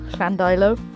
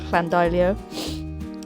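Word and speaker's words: Llandeilo: pronounce them so I've corrected myself now clandailo not clandolio and I'll try not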